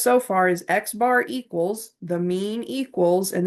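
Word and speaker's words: x̄: Okay, so if we ever see an X with a little line over top of it, it's pronounced we we say Xbar and that just is the symbol we use to represent the mean.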